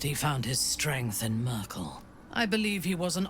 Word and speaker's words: Myrkul: I was calling him Merul. I was giving like an accent to like there's no way. It's just straight up pronounced Merkel, right? And here we are. They're pronouncing it Merkel.